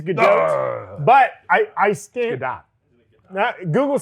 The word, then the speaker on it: Gadot: It is Gal Gadot. Yes. And when I say that, people are like, it's not that. It's Godot, like the play. It is Gadot.